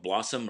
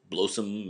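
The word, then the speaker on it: BLOSUM: will frequently encounter is the so-called blossom or blow some matrix depending on how you want to pronounce it block substitution matrix we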